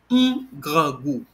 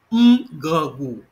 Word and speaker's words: grangou: So the contracted version is grangou. One more time, grangou.